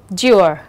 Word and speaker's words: mature: được phát âm là mature, mature. Còn lại những cái từ khác là adventure, feature và procedure thì nó được phát âm là er.